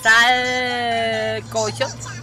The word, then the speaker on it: sancocho: Entonces, cuando hice mi primer sancocho, salcocho, que es así como se pronuncia en sí, como se escribe salcocho.